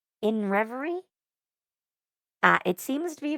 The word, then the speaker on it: INRVRY: So, um I've heard it said that you're supposed to pronounce the name of the band as uh in revery.